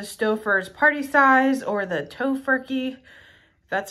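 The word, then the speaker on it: Tofurky: can choose the Stouffer's party size or the tofurkey that's how you say it holiday roast which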